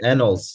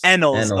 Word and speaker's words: Ennals: Like, you and Brian, you and Brian Ennals is it Ennals or I'm pronouncing that right? Ennals. Ennals. Okay. Yeah, Okay. yeah. So But I don't okay, think he okay. minds because he gets Ennals all the time.